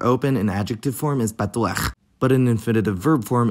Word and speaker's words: פתוח: Back to the words patuach and liftuach, and notice the smooth vowel transition on the last syllable of each word.